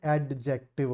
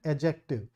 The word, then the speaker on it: adjective: we don't call it add dejective okay the D here is silent adjective so it's a it's